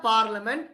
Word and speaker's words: parliament: In the parliament, I is silent.